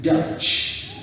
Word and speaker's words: Dutch: different from the that ch yes that's the pronunciation of german in general deutsch but this is dutch d-u-t-c-h that's the english word for someone from